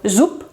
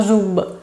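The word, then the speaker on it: зуб: Por ejemplo, zup, zup, que significa diente, pues es zup, como si se escribiera con P. No zub, sino zup. La V se pronuncia F.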